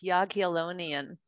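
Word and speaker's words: Jagiellonian: university their management school did i get that right it's yagi-olonian yeah bologna okay my polish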